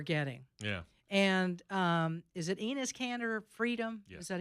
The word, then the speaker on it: Enes Kanter Freedom: And is it Enes Kanter Freedom?